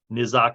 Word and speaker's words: Nyzzok: Nizak is Nyzzok.